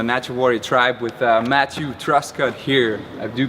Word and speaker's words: Truscott: mvdb from the natural Warrior tribe with Matthew thrustcut here I do pronounce that right dude you got it cool